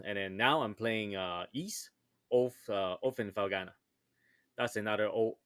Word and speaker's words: Ys: Well, in case you're Mm. wondering, East it's spelled YS, so capital Y and then small letter S.